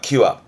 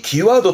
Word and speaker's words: 際: 뜻으로는 발음은 기와입니다. 기와. 이 기와도 참 뜻이 많은데 지금 언덕에다가 제를 지내는 거잖아요.